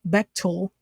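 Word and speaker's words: Bechtel: Beil Corporation Etc uh Beil pronounced betil is a super secret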